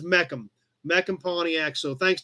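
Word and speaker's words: Mecham: what we just said it's actually spelled different than meecan bill the dealership was m-e-c-h-a-m pronounced meckham was the pontiac deal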